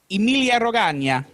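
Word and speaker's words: Emilia-Romagna: And so what pronounce it for me? Emilia Romagna.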